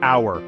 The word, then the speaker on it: hour: head take the word hour for instance it starts with the letter H but the h is silent this silent h makes